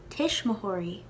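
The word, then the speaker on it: tuismitheoirí: be shayla now parents parents is tishmahari in the pronunciation guide i have a w there because there is something of a w sound made at least in ulster but it's not full-blown it's sort of subtle but definitely there poshti and i've even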